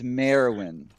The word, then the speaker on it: Merwin: it's 2 syllables. It's Merwin. Merwin. Merwin. Lady Merwin. Yes, that one. Merwin. You'll get it Merwin. eventually. Merwin. All right. Thank you. You're adding a syllable in the middle. It's not it's not a win. It's just Merwin.